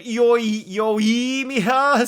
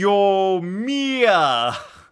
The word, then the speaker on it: Yoimiya: Wouldn't yoimiya still put a stress on the first E? Wouldn't it be yomiya? Oh, we put the stress on the M, Flip Flan?